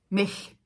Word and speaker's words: Mech: parle ou pas alors David mec mec c'est apparemment ça se prononce mais qui est un